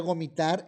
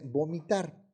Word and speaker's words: vomitar: Pronunciar gomitar en vez de vomitar.